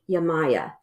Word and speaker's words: Yemaya: Her business is named Yamaya, and that's spelled Yemaya.